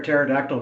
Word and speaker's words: pterodactyl: yeah hey Emily why can't you hear a pterodactyl go to the bathroom cuz the p is silent oh man you heard